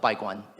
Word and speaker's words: Baiguan: But Baiguan by Robert. Can you say that more slowly? Yeah, it's spelled B-A-I-G-U-A-N.